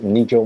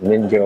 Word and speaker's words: Nijo: is uni seersen and the name of the market it's Nido Market not ninjo or apologies for my